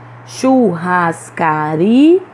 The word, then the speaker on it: churrascaria: Churrascaria. Em todas essas palavras, nós pronunciamos com mais força a penúltima sílaba, então elas são paroxítonas.